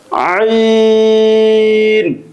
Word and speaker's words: عين: এই মাখরাজটি উচ্চারণ করার সময় গলার ভিতরে হালকা চাপ দিয়ে উচ্চারণ করতে হয়। আইন।